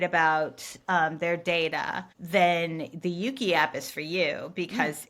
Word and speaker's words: Euki: And then there's another thing, which is the Yuki app. Mm-hmm. It's spelled EUKI.